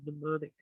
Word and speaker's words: mnemonic: So mnemonic, just FYI. Because they had it spelled like PNEU, which is like it has to do with filling something up like tires, pneumatic tires, or pneumonia.